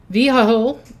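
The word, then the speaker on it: Vehuiah: Vho V E H U I A L. So it sounds kind of like vehicle.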